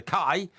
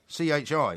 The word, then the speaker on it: ki: C-H-I. He says it's pronounced chi, No. not kai. No, it's kai.